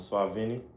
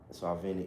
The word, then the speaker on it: Suaveny: Um, Swag Vinnie. Yeah, Swag Vinnie on YouTube, Swag Vinnie on IG. How you spell that? Swag Vinnie, S U A V E N Y.